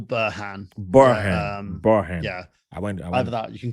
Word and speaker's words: Burhan: and honored to have bonham did i say it right yeah it's burhan um you can call